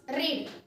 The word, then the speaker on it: read: catches वाचणे वाचणे means रीड second form रेड third form रेड इथे लक्षात घ्या स्पेलिंग तेच आहे आर इ ए डी but pronunciation is different रेड अँड रेड fourth form is रीडिंग